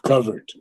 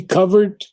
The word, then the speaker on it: covert: And I think I saw something like 10 or 12 different pronunciations of covert. So it could be covered or it could be covert. Covered, covert, both two syllables.